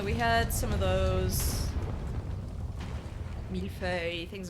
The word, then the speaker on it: millefeuille: Oh, that's pronounced millefeuille. That's an adorable name for a cat, millefeuille. Millie fuel.